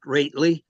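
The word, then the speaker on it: Roethe: your last name again r o e t h e pronounced rly it's actually a piece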